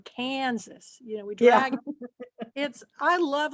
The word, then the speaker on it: Kansas: I mean, we don't say Kansas. We drag the first syllable, Kansas.